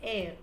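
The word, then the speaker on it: heir: our honor and honest, the letter H is silent. So what is meant by hair or air? Sometimes we call it hair but the actual pronunciation is air.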